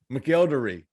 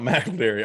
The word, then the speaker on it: McElderry: week watch this roquez mcelderry i was putting them fastest on the wrong syllable it's it's not mcderry although i wish it was that sounds really cool uh it is i